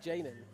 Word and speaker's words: Janan: It's Janan. Janan? Janan is the Janan, pronunciation. okay. I assumed the J would have been silent automatically here.